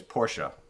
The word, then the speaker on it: Porsche: I think the correct way to say it is Porsche.